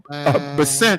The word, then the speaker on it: Scott Bessent: I think that's how you pronounce his name. Bessent.